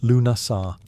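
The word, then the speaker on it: Lughnasadh: Lugnasad, pronounced Lunasar, the Celtic festival honoring Lug, the god of light, craftsmanship, and war.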